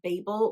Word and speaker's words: Babel: The next one that we have is an antic-colonial one, and that is Babel or Babel, however you want to pronounce it, by RF Quang.